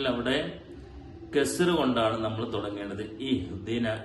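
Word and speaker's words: اهدنا: ഇഹ്ദിനസ് സിറാത്തൽ മുസ്തഖീം, ഇഹ്ദിന, അവിടെ പല ആളുകളും ഇഹ്ദിന എന്ന് ഹംസക്ക് സുക്കൂന് കൊണ്ട് തുടങ്ങാറുണ്ട്. സത്യത്തിൽ അവിടെ കസ്ർ കൊണ്ടാണ് നമ്മൾ തുടങ്ങേണ്ടത്. ഇഹ്ദിന, ഈ എന്നുള്ള ഹംസയെ കസ്ർ കൊടുത്തുകൊണ്ട് നല്ല ശ്രദ്ധിച്ചുകൊണ്ട് തന്നെ ഈ എന്നുള്ള ഉച്ചാരണം വരേണ്ടതുണ്ട്.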